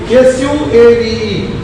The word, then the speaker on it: suave: Next word you see, S-U-A-V-E. S-U-A-V-E. It's you have to pronounce suave.